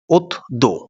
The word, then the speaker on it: অদ্য: শব্দের উচ্চারণ কেমন হবে অদ্য শব্দের উচ্চারণ হবে অথো ঋণ এর উচ্চারণ কেমন